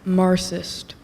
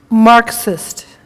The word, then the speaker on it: Marxist: theory of God government am I saying it correctly Marist that is not correct Marxist can you please repeat